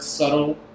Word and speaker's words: subtle: You ever wonder if they put the silent B in the word subtle to have something subtle in the word subtle?